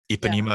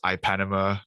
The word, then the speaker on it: Ipanema: what not to say that ipanema is not pronounced as ipanama on radio and a lot more